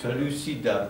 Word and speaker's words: Pellucidar: Jest cały cykl marsjański, jest Pellucidar, tak, to się tak wymawia, więc czegoś się jeszcze nauczyłem.